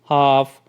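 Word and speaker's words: half: इसी तरह से नीचे दिए गए वर्ड्स हैं उनमें भी L साइलेंट है, इनको आपने किस तरह से बोलना है, काम, talk, should, हाफ, stock, would, चॉक, could, almond, York, warm, salmon, ठीक है।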